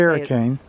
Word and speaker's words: Hurricane: like in utah there's h-u-r-r-i-c-a-n-e which we would call hurricane utah but there's a hurricane they say it's hurricane hurricane so we'll do it whatever they say yes and we know